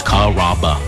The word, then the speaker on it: Carrabba: Growing up, people always had a hard time pronouncing my name. People chop it up pretty good. You know, Carrabba, Carrabba. It's a really easy name to pronounce. It's Carrabba. Come to Carrabba's for dinner.